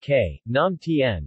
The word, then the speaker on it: Khanom tan: Kennon tan Tai kam tall pronounced ke naam Tien is a local popular